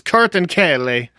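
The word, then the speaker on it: kertenkele: But like I think I think in Turkish it's Kurtankale. Okay, okay. Is is how you say lizard.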